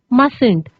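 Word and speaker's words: mustn't: मस्ट नॉट, how will you contract both these words into मस्टंट. कैसे pronounce करेंगे हम, मस्टंट, right.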